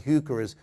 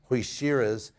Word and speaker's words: heuchera: We would be calling heucheras Hoishiras because the guy's name was Hoisher.